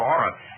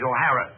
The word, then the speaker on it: O'Hara: for all of us my name is not for Aurora it is O'Hara do you have Mr